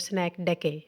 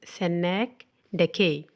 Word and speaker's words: synecdoche: So the first we will learn about synecdoche. The pronunciation of this word is synecdoche.